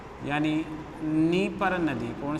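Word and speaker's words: Dnieper: निस्टर, नीपर और done, ये तीनों 3D के नाम से। डी यहाँ साइलेंट है, ध्यान रखिए आप।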